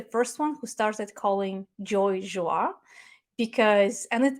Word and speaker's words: Joie: Yes, you were the first to catch that people were saying my name incorrectly because the proper pronunciation is Joie. But my whole life, my mother also called me Joey.